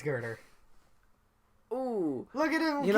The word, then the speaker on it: Girder: No, it's Girder.